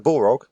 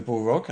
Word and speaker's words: Balrog: and sword wielding demon is the Balrog not called a bull Rock and less your j.r.r